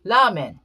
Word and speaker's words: ramen: they spelled it r when ramen became popular that was it it did enough damage when it's actually lament but you're not the